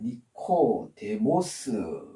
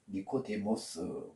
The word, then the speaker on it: 니코데모: 좀 독특한 것 같습니다 니고데모는 이렇게 씁니다 헬라어로 어 니코데모 니코데모 그래서이 니코는 니카오 원하다